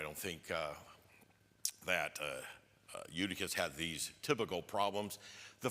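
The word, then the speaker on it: Eutychus: Anyone look up to see how that name is actually pronounced? Because most of the time, what was it? Udicus. Udicus.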